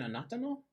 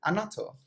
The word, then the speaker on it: annatto: I think was it anatano? Annatto. How you pronounce it? Annatto.